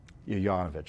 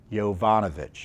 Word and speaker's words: Yovanovich: Yanovich, I think her name, I'm keep on pronouncing her uh mispronouncing her name. It's Yovanovich, excuse me.